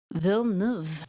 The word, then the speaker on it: Villeneuve: Pronunciation. Villeneuve.